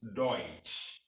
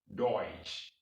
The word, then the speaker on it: Deutsch: d-u-t-a-c-h and the germans are doing so pronounce it deutsch deutsch we are now learning german deutsch here in